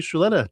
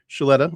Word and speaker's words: Suleta: Suleta, and by the way, her name is spelled as if it does not have an H, but it's said with an H, right?